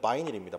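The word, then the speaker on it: vinyl: 그리고 비닐이란 발음도 틀렸죠. 원래는 바이닐입니다. 바이닐.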